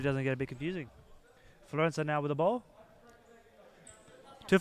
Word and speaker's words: Florenza: Ash Rowson off now, and we have on Diego Florenza. Had to figure out that pronunciation last week.